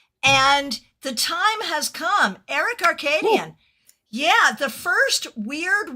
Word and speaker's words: Aerik Arkadian: So, Aerik Arkadian. Aerik is spelled Aerik.